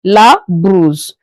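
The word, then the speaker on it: brosse: The O after the B is pronounced as U not O as you are seeing it on the board. La bruise.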